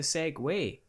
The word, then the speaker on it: Segway: If you're referring to an American company that produces motorized transportation devices, then you're referring to Segway.